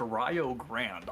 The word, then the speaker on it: Rio Grande: It's not going to be Rio Grande, and it's going to be spelled like that, but it's going to be pronounced Rio Grande.